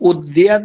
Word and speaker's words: उद्यत: ये उद्यत है, जैसे विद्यालय में द्या होता है ना, जी तो यहाँ गुरुदेव।